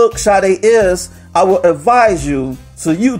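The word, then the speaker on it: Sade: name of the whole group is chad a it's not only the singer is the group and it's spelled s-a-d-e and for all you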